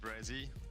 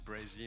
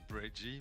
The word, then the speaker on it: Brezzy: Just Brezzy. Like SZ. I know it's hard to pronounce because it's half of my name. It's just say Brezzy and not Breggy, but you can say whatever.